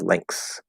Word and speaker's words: lengths: Is it common to pronounce depths as depths and lengths as lengths. Yes, it is. It is extremely common and probably the most natural way to say it.